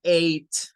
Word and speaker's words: eight: combinación e ig H el número ocho basta con decir eight la gh en este caso pierde su función es decir no suena y Solo queda sonando la parte vocal eid también se usa